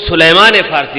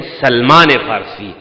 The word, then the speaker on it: سلمان فارسی: دوں معذرت کے ساتھ، پنجابی لہجے میں بعض لوگ حضرت سلیمان فارسی کو سلمان فارسی کو سلیمان فارسی کہتے ہیں، یہ غلط ہے۔ وہ ہے سلمان فارسی، وہ سلیمان پیغمبر تھے،